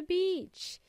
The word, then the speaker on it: beach: to go to the beach ala beach in this case is pronounced with a long e Beach b e a